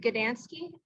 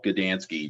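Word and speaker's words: Gdanski: have the other professional mr gadansky am i pronouncing that yes that's correct okay could you please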